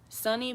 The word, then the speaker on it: Sani: Sunny.